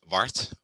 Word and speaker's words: Bart: name is said was is bart that's the way i pronounce it bart i work